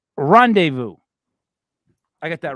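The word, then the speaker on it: rendezvous: uh Mandy that's one for you all right pronounce that one horribly it's not English also not English uh R rendevu I got that right right yes right we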